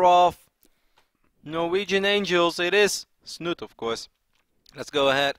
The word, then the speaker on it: Snute: I say Snute. He's like, "Hey, please stop saying Snute. It's Snute."